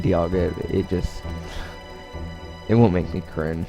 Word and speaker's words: Dialga: There was an episode where I said I would pronounce Dialga, Dialgers. I forget what I said, but I'm saying Dialga.